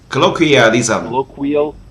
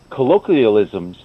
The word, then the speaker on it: Colloquialism: How to pronounce the word? Colloquialism.